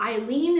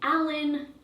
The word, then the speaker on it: Ailin: very different way so Eileen is traditionally spelled with like e i l e n but my name is spelled a i l i n right and my whole life people have just been mispronouncing my name like all the time and they'd be like oh is your name Alan alen alen Alien like all those different variations right and um yeah